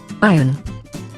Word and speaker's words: iron: and this is how it should be pronounced. Iron.